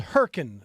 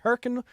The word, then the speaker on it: Hurricane: It was in a town called Herkin, spelled hurricane, but pronounced Herkin, West Virginia.